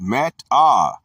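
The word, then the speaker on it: μετά: The Greek word is meta, pronounced meta, a primary preposition, often used adverbially, properly denoting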